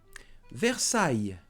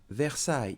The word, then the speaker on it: Versailles: Versailles. Versailles. It's a city near Paris. Here there's a capital letter because it's a place. Versailles. Note that we do not pronounce S in French.